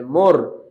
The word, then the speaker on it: more: দেখেন শব্দের শেষে যদি ই থাকে তাহলে কিন্তু আমরা সাধারণত ই কে উচ্চারণ করি না। যেমন আমি যদি একটা এক্সাম্পল দিয়ে বোঝাই, NAME নেম, তাই না? SAME সেম, এখানে কিন্তু ই একটা উচ্চারিত হয়নি। সুতরাং এখানে যে আর আছে, সরি ই আছে, এই আরটা উচ্চারিত হবে না।